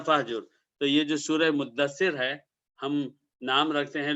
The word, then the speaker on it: مدثر: ملتا جلتا لفظ ہے، لیکن جو صحیح تلفظ ہے، صحیح پروننسیشن ہے، وہ ہے مدثر، دال پر آپ تشدید پڑھیں۔ بہرحال یہ آیت نازل